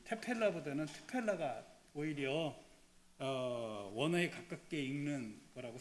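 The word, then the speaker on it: תְּפִלָּה: 사실은 여기 있는 요거는 굉장히 약한 발음입니다. 그래서 일반적으로 이제 저희들이 좀 히브리어를 잘 아는 사람이 읽을 땐 트펠라라고 읽습니다.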